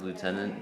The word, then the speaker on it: lieutenant: last time i checked is not an f in the word lieutenant but uh that's how they pronounce it and i think it sounds cool so this is lieutenant